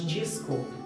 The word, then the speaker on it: desconto: We have, for example, "exame", that has an "x", and an "e", but we say "izami", and another is "desconto". that we pronounce "dgiscontu" First, I would like